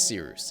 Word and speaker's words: Cyrus: soon My name is Cyrus. It’s spelled like “Cyrus,” pronounced like “See Rooster,” just take out the “ter” Thank you very much for watching and have a wonderful day!